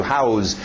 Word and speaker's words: house: Cuidado com esse S no final, não é um Z. House existe, é um verbo. To house, dar abrigo para alguém.